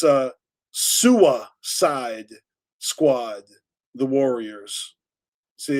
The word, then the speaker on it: Sua Side: It's uh Sua Side Squad, the Warriors. See, it's SUA, right? Yes sa because in New England we don't pronounce our Rs. So it's Sua side.